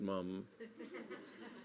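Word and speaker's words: Mapledurham: a whispered aside was Lester Maple Durham pronounced mom the Explorer and big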